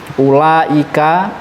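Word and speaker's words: أولاء: Yang pertama lafadz ulai, u-nya dibaca pendek. Jadi wawunya koyok-koyok tidak ada. Ada penulisannya, tapi dalam cara bacanya tidak ada.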